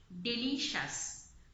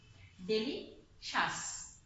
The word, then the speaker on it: delicious: Yes, the next word is delicious, not shias. When you have a CIOUS, you will pronounce it as shas, not shias. Okay, delicious.